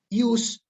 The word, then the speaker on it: ius: Ius y urare, la J suena como I. Jus se dice ius. Jurare, así se escribe, pero se dice iurare, la J suena como una I.